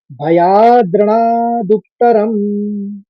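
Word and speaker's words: भयाद्रणादुत्तरम्: पहले शब्द को देखिए, भया या के ऊपर आघात है तो भयाद कहेंगे, फिर द्रणा कहेंगे, फिर दुक्तरम कहेंगे। भयाद्रणादुत्तरम।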